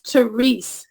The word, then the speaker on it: Therese: with you and it's theres the E is silent at the end but the way they